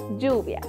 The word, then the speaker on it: lluvia: vamos con la primera lluvia a la palabra lluvia le hace falta la sílaba Yu que es la que formamos con la doble L y la vocal u lluvia perfecto y la